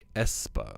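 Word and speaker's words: aespa: __ ] up espa it's pronounced espa okay still gonna say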